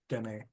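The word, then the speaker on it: Diné: How they pronounce is den.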